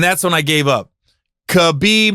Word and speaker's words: Khabib: when I gave up khabib not rock-a-bye Rob Rob I don't